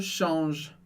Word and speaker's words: change: outra pergunta aqui, Felipe, por que a gente não lê changer ou change? Porque tem um E no final, mas muito importante, em palavras mais longas, a regra geral do francês é que a gente não leia o E do final.